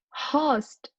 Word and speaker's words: host: more like a so you want to pronounce it as the long host long vowel sound which is the think